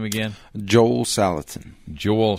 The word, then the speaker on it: Salatin: your guest speaker uh and how do you pronounce his name again Joel salatan Joel salatin and uh he is a farmer and uh